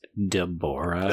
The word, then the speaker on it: Deborah: Also, it's Deborah. Oh, Deborah, yeah. Oh my God. Just saying. Like, it's like the joke, you know, you put the wrong emphasis on the wrong syllable.